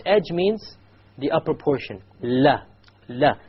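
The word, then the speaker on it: ل: Okay, notice that the entire upper portion, la, not just the tip, it goes and it touches the gum of the mouth behind the canines.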